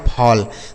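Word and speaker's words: fall: एफ A double L इसे पढ़ाया जाएगा फॉल।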